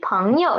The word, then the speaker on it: 朋友: Okay, 朋友. It is 朋 yo, and yo is neutral tone. Neutral tone. We need to read it soft and quick. Okay. 朋友.